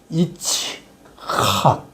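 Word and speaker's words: יצחק: 이츠칵. 요게 헤이트라고 해가지고 이제 사실은 거의 키읔 발음 나요. 히읗 발음보다 더 강해요. 그래서 이츠학.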